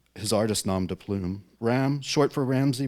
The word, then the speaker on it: Ram: Ram short for Ramsay pronounced like the animal is a Baltimore based